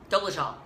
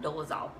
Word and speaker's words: Dolezal: Dolezal, not Dolezal.